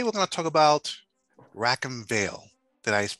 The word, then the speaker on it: Rackham Vale: excellent and today we're going to talk about rack and veil did i pronounce that correctly you did okay excellent excellent